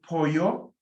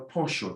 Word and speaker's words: pollo: El apartamento, el dinero, el pollo, double L, yeah, or el pollo, the SH sound. It's up to you.